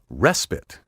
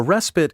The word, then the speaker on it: respite: often mispronounced respite a respite is an interval of rest or relief allah hiatus as a vacation is a respite from work take care to stress this word on the first syllable respite throughout the verbal